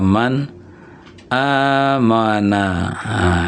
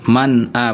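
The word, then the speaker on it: مَنْ آمَنَ: man amana ya ada man amana man ini kan nunnya sukun ada a ada hamzah ya maka bunyi Nun sukun ini jelas man a bukan mana, bukan mana.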